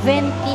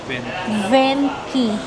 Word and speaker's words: Venchi: Venky Venki ang pronunciation sa pagal yung CS K. Ito yun Venki yung pronunciation.